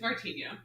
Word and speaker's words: Martinho: It's Martinho.